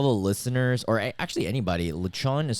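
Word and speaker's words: lechon: so good all the listeners or actually anybody lachan is spelled l-e-c-h-o-n and um if you're not into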